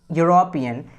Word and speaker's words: European: But when you pronounce this word European, so you come to know that the letter that we have is Y, means a consonant sound, right?